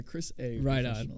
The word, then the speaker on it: Xhris: today by Chris a I go by Chris a I never knew how to pronounce it I always see that X in your in your name and so I just